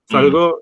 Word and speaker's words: salgo: Salgo with the stress on the first syllable is I leave.